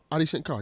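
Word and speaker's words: Adi Shankar: Ai Shankar. Yeah, sounds good. Audi Shankar. Yeah, that's correct.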